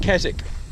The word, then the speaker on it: Keswick: to that is at a town are called Kazik it's spelt Keswick but the english people pronounce it kazakh but in that town there's several kind of